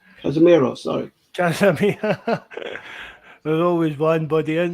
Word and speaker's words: Casemiro: Cameroso. Casemiro, sorry. Casemiro.